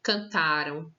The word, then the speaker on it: cantaram: aqui para vocês aqui eu tenho cantaram cantaram tá vendo que o tá tá maiúsculo porque ele vai ser a sílaba tônica cantaram brincaram dançaram comeram tudo